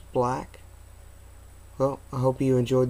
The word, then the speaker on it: BLAG: see that there it's it's pronounced black well I hope you